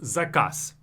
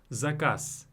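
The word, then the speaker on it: заказ: We use this trick whenever a word ends on a voiced consonant. For example, zakaz.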